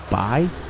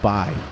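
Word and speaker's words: Bai: i think it's pronounced by it's b-a-i and i think it's called buy uh and i've got some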